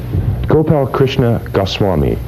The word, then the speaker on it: Gopalkrishna Goswami: Gopalkrishna Goswami. Proper pronunciation of your name?